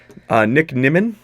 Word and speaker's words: Nick Nimmin: And this one caught me off guard, because I've been talking to this guy, Nick Nimmin. I finally am pronouncing his name correctly.